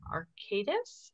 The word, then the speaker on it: Arcadis: And she currently works in Indianapolis, where she's a water resource engineer for Arcadis, if I said that.